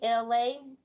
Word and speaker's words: Elay: It's me, LA, ELAY, pronounced like LA, like the city.